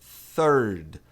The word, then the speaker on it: third: Primeiro a gente tem th aqui que vai ter aquele som, né, que é feito com a língua entre os dentes, produzindo um som de s.